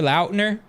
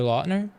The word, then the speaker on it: Lautner: his name taylor lautner did you know that that's how you say his name he said it in an interview this year and they were like for years we've been calling you taylor lautner and he's he's like